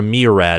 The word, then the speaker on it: myriad: for for a me for a meerad of reasons I don't know if that from my Riyadh or m-y-r-i-a-d I think is how I think is how you say it for a myriad of